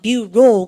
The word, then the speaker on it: bureau: 불어에서 와서 그래요. 뷰로, 그죠? EAU가 O입니다.